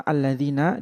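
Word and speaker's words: الَّذِينَ: Yang pertama alladzina di situ di atas alif ada kepala shad itu maksudnya adalah alif tersebut hamzah washal.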